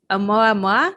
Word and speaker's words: Oumuamua: didn't say what it was, and it was Oumuamua.